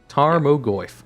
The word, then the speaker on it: Tarmogoyf: tarm gomoif tarp they even gave me a pronunciation guy and i forgot how do you say his name again tarmagoyf tarmagoy tarmogoyf okay gotcha tarmagoyf two mana one of itty